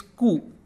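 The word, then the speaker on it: कु: And it is pronounced like ku in kudos, kudos, ku, ku, kudos, and like ku in sudoku, sudoku, sudoku, sudoku.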